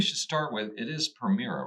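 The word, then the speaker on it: Permira: so maybe we should start with it is premira right that's how I pronounce it yes it's private Equity Firm okay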